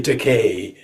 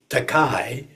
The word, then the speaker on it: Takei: to call an actor expensive it's you're definitely teay but uh some people who pronounce teay teai thought it rhyme with oh my I was